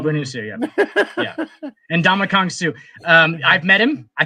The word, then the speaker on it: Ndamukong: His first name is pronounced in Donkey Kong. And Donkey Kong's and Donkey Kong, a boy named Sue. A boy named Sue, yeah. And Ndamukong Suh.